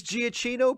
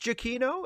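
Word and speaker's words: Giacchino: Quinn is great um is giaccino pronounced jokino if it is that's the first I've heard of it well I mean I will I will look that up to confirm it but I always thought it was gichino but if it's jokino then I will I will start pronouncing it that way and if that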